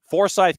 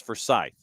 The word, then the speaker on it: Forsyth: It is Foresight County and the town is Forsythe. So, you have Foresight County north of Atlanta. The town north of Mon is for Scythe. Second syllable. Forsythe County.